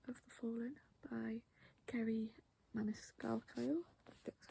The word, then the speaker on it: Maniscalco: I have Throne of the Fallen by Kerry Maniscalco, that's how you pronounce it, and of course Silver Flames by Sarah J Maas, which is book 5.